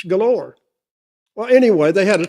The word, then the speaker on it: Gaylord: It's spelled G A Y L O R D. They don't call it Gaylord. It's galore.